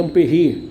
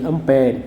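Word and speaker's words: ampère: Na verdade, a pronúncia correta seria ampere, que é um francês, tá? Mas a gente termina deixando o negócio meio brasileirado, e aí a gente chama de ampere, tá?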